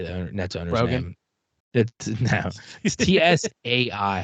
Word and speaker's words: Tsai: say the internet now Tsai how would you say that t-s-a-i t-s-a-i yeah I feel like Psy yeah it's like the teaser silent yeah so okay we'll we'll